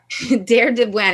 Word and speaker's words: Deir Dibwan: Deir Dibwan. It's spelled DEIRDIBWAN.